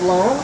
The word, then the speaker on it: Loan: Okay, my name is Loan, kind of like student loan, and I'm with the Latin American Coalition located in Charlotte, North Carolina.